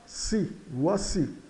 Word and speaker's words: voici: A vogal de voici, a vogal final I, é carregada na acentuação, porque é uma vogal, né? As vogais no final são carregadas na acentuação. E o A de voar soa UA. Então, voici.